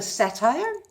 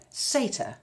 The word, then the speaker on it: satyr: than I do is it's not called the satire it's called a satyr sure you see how